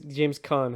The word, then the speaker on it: Caan: So let's go to James Kane or James Caan. How do you say that? It might be Caan. It's two A's, so it might be James Caan.